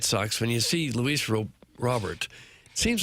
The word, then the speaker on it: Robert: It seems like it should be Roar, but it's Robert, right? It's Luis Robert. Doug, I like to honor the home country and speak it their language. Yeah, I think for I was pronouncing it Roar and now I hear is Robert Jr. Rober would be French. He's clearly not French.